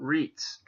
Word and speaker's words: REITs: gonna be talking about REITs that's how it's pronounced kind of similar to beats now you know how